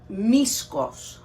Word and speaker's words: Misko: brand in greece so brand in greece called miscos which is spelled m-i-s-k-o-s okay yeah well yeah right misco